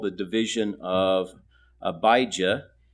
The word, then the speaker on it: Abijah: called the division of abijah which is the Hebrew pronunciation or AIA in Greek